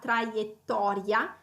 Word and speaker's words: trajectoire: à prononcer en réalité trajectoire alors on a encore un r vers la fin du mot qui il faut enrouler on a plusieurs t on a le double t donc oui c'est une